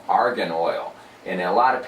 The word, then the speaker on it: argan: Right, and the way it's spelled with an A, not with an O. If you say argan, argan is a gas, okay? It's on the periodic chart because a lot of